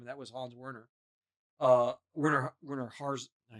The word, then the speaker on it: Werner Herzog: Werner Herzog. I said it wrong. But he acted. Werner Herzog.